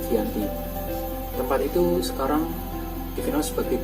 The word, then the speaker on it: Giyanti: Nama Giyanti sendiri diambil dari tempat penandatangannya, yaitu di Desa Janti yang dalam pelafalan Belanda disebutnya Giyanti.